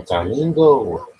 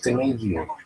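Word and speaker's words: Taimanglo: Oh, Tamingo. Not Tomangio. Shit. It look like it's spelled Tomangio, so I'm gonna fucking call him Tomangio.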